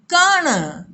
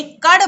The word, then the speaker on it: कण: कराह, आलस्य, लापरवाही, कण। इस ण के उच्चारण में प्यारे बच्चों ध्यान देना, ड़ उच्चारण अलग होता है और ण उच्चारण अलग होता है। प्रायः बच्चे कड़ बोल देते हैं, कड़ नहीं, कण।